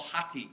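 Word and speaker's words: ὅτι: in the original is a term that's called hati is how you pronounce it and it's a a conjunction that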